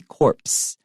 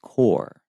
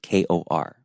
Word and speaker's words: corps: way it would be corpse okay but because as a French word the PS are not pronounced so it's just core like Kor hey Daniel Union corpse